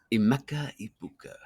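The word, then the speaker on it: Emeka Egbuka: Mecha Ibuka.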